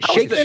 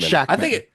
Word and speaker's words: Shakman: Is it Shakman or is it Shackman? I think it's Shackman. There's Is no it Shackman?